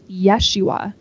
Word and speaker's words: Yeshua: Jesus's name is pronounced Yeshua in these stories because that is how it would have been pronounced in his Hebrew heritage his name became Jesus